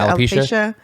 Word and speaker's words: alopecia: How do you pronounce it? Alopecia.